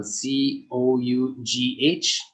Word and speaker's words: cough: uh cough cough so c o u g h g h does not sound like g makes an f sound cough cough and then